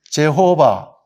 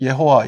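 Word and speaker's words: Jehovah: 발음이 나와요이 발음 예 요거는 영어로 하면 제호바 독일어는 예호와 이렇게 되죠 제의 발음이 난단 말이에요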